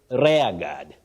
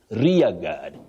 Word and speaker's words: rear guard: here now this word many people innocently say rare God rare God no you say rear rear guard a rear guard action not RAR guard and then if you